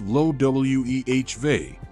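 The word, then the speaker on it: Loewe: are familiar with the high-end fashion company Loy pronounced low we V which is recognized for its humorous luxury attire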